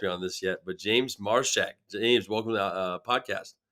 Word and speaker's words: Marchak: Okay, he hasn't corrected me on this yet, but James Marchak.